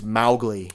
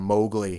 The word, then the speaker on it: Mowgli: But even the pronunciation, because Disney butchered according to the Kipling family, they butchered the name. It's Mowgli. But yes. in this movie, they call him Mowgli, and they're Right.